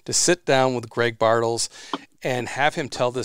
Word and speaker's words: Bartles: it's great greg greg bartles just like bartles and james uh wine coolers from way back when